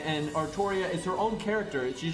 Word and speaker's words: Artoria: stuff and then they they pronounce it artoria and artoria makes sense because atoria is derivative of artorias which is where the name arthur comes from that's like the